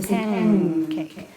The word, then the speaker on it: pancake: So if I say pan and cake, I pronounce it that way. But pancake, the N takes on the place of articulation of K, so I say pancake.